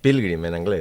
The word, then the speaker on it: Pilgrim: O Pilgrim, com ho pronunciem millor? Pilgrim, en anglès.